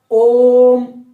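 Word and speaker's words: ओ३म्: ओम, ओम मतलब ओ को हमने कितने बार बोला? तीन बार। तो ओ को तीन बार बोलेंगे, माने ओ का उच्चारण तीन बार, तब जाकर क्या बोलेंगे? म।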